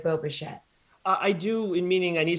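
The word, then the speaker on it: Bichette: and like you said it does rhyme with shmo machete it is boba shet 10.2 draftkings fantasy points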